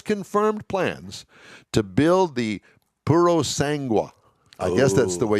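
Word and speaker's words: Purosangue: year and has confirmed plans to build the purosangwa i guess that's the way you pronounce it its first utility vehicle this year deliveries will begin in 2023.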